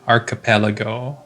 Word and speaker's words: archipelago: So the word archipelago is spelled A-R-C-H, arc, I-P-E-L-A-G-O, archipelago.